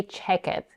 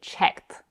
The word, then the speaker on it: checked: it we don't say check it we say checked so we still end up with a one syllable word by the way if we say check head a native speaker might